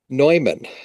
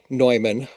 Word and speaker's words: Neumann: Nutric, Neumann.